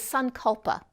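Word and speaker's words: sankalpa: the direction of your life in sanskrit is sun culpa or determination so i'm going to spell it for you s-a-n k-a-l-p-a and if you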